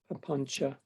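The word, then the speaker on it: papañca: Papanca. There it is. The C is a ch, pronounced a ch in Pali.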